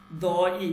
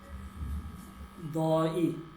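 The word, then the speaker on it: دایی: আর এটা হচ্ছে দই, দই, দই, দই মানে হচ্ছে মামা, দই, দেখেন দই, দই উচ্চারণ হচ্ছে দই, দই মানে হচ্ছে মামা, মামা, দই মামা।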